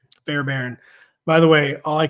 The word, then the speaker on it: Fairbairn: Fairbairn. Fairbairn.